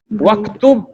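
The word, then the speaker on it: واكتب: Waktub and uktub. Uktub means write. Uktub means write. So when Y is added, it will be pronounced waktub. Read and write ma'a zabti awakhiril kalimat, with the sign on the vowel ending.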